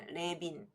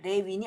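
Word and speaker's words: Lewin: 과거 크루트 레빈이 번역했는데이이 사람이 독일 사람이라 독일식으로 발음한 거 같습니다 레빈 예 아 레인이 아니군요 레빈 레벤스 벨트 그래서가 이렇게 비로 발음되는 봅니다 그래서 실행 연구의 유가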